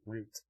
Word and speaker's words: route: the color of the routes being claimed with any set of cards allowing you to claim a great route or route however you prefer to pronounce that's or you can